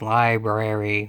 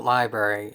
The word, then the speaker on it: LBRY: where you are but it's mostly pronounced library with an R in it it even has an